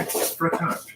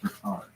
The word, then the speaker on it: frottage: Like if you talk to a sexual health educator, they'll call that frottage. Really? Frottage. Frottage. Frottage. It rhymes with fromage.